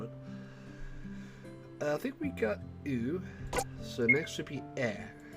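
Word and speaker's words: う: You pronounce this one as oo.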